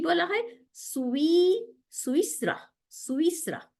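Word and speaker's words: سويسرا: সুইসরা, দেখেন বানানটা সিন পেশ ওয়াওর নিচে জের, ইয়ার উপরে না ইয়া, সিন পেশ ওয়াওর উপরে সুকুন, সু, তারপরে ইয়ার নিচে জের, আমাদের হারাকাত ঠিক করতে হবে, ইয়ার নিচে জের, তাহলে সু ইস, আবার সিনের উপরে সুকুন, রর উপরে জবর, হ্যাঁ, সুইস র, এই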